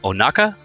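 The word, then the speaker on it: Ohnaka: He is best known for his works in Hellraiser as the Butterball Cenobite, or also Nightbreed as Onaka, I think. Did I get the pronunciation on that correct?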